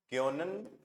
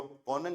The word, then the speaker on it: können: क्यों, कॉनन नहीं, सही पढ़ो, जो प्रोनाउंसिएशन है उसको अच्छे से करना है। ओमलाउट वगैरह का साउंड, ओ और ओमलाउट के साउंड में फर्क है।